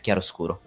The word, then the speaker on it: chiaroscuro: genre is said because it's an Italian word. So yeah, it's Chiaroscuro, and that's for you, Stu. You wanted to know how to call it, how to pronounce it. Yeah, I thought it was a chiaroscuro, like so it said much more slowly than that, but ultimately I at least had the hard ch.